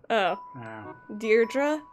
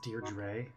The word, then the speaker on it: Deirdre: technically but next Oh deirdre a nut its Dierdre Dierdre I'm saying it wrong this entire time it